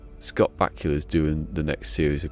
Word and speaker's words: Bakula: Scott Bakula rhymes with Dracula.